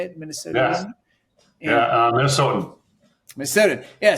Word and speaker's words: Minnesotan: Minnesotan?